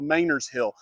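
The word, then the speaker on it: Manor's Hill: It's spelled looks like Manor, but it's called Mayor's Hill.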